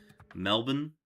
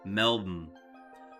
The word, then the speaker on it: Melbourne: People always say Melbourne to try and pronounce it correctly, but it's honestly more like Melbourne. No vowels whatsoever at the end. Melb Melb Melbourne.